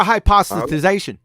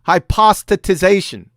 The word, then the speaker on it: hypostatization: policy yes sir or hypothesization hypothesization yes sir hypothesization or hypothesization uh hypothetization hypothesization hypothesization or hypothesization i just told you you've been drinking no stop saying that it's hypostatization here let me show you